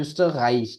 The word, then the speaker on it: Österreich: ठीक है, पहले ये ओम लाउट आ गया तो österreich, ठीक है, गल की साउंड आती है इसमें ज्यादा। राइश, österreich। und der Schweiz।